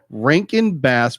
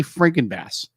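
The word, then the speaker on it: Rankin/Bass: its production was and i'm gonna get this right because i always say it wrong rankin bass productions because i always say freaking bass for some reason i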